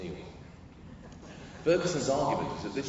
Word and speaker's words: Niall: Now, this is most associated with the British historian Neil Ferguson. His name's spelled Niall, for some reason he insists on pronouncing it Neil.